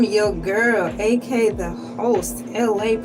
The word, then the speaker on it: Elay: I'm your girl, aka the host, Elay, pronounced like LA, like the city.